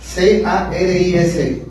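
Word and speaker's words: χάρις: La palabra gracia en griego se escribe, si gustas anotarla, C-A-R-I-S, caris. Es muy parecida a charis, que es carisma, pero no, es C-A-R-I-S.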